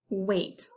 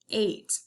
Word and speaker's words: wait: That A is making a long A sound, even though I see an I next to it. It's not wa-it, which is what it looks like. We hear the A say its name. Eight. No silent E at the end.